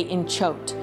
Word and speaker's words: inchoate: Okay, I'm gonna say inchoate, and then we'll find out.